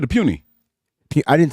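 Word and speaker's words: Puni: Yeah, it's Puny. Yeah, Dominic Puny.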